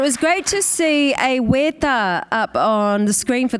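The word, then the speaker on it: wētā: The issue, though, is that weta, of course, has a long e and ta, of course, weta.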